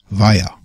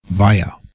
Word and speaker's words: via: Via. Via. Das V wird betont und wie das deutsche W gesprochen.